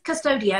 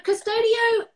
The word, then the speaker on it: Custodio: This is Custodio. Have I pronounced that correctly? That's perfect. That's perfect. Okay. It means guardian angel in Latin. Wow, a beautiful name. Yeah. So Custodio is part of a brand called Swissline.